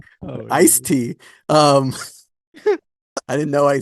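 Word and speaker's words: Ice-T: guy he's always on don't say iced tea you said I te it's IC tea sorry IC tea IC tea um I didn't know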